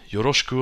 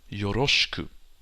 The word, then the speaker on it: yoroshiku: Next, the E in shi and chi disappears sometimes. For example, yoroshiku onegai shimasu. You don't say yoroshiku onegai shimasu. It's yoroshiku. Yoroshiku. Also notice the U doesn't disappear. It's not yoroshik.